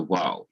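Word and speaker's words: וָ: a kamis underneath the waw. So when the conjunction stands immediately before the accented syllable, especially when it connects a pair of words, it is wa.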